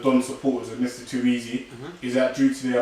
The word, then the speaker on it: Eze: It's a very easy, and obviously it's spelled EZE, and that's his last name.